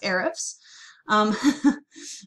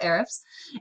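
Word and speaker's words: Ahrefs: But first, so when I throw your website URL into this handy dandy tool that's I pronounce Arifs. There's a lot of ways to pronounce that, but I call it Arifs.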